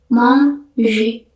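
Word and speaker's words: manger: Dalam bahasa Perancis kita ngomongnya monj monje. Ingat kalau ada m gitu biasa dibacanya ng jadi monj mon.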